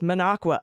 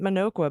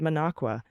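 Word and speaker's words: Minocqua: However, Monqua is pronounced Monqua. And I just did it right. I was calling it Maninoqua, but I just said Manqua.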